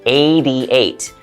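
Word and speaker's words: eighty-eight: But native English speakers usually will pronounce hard T sounds in the middle of a word like a D sound, like 88, 90, 20.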